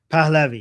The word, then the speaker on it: Pahlavi: Palavi. Palavi.